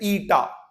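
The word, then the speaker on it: eta: ईटा इसका इसको प्रोनाउंस करते हैं ईटा।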